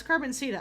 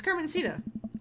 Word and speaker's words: Carmencita: does a god that's carbon cita I'm gonna Auto apply it's so hard to remember how to say her name god dammit that's Carmencita says she wants learning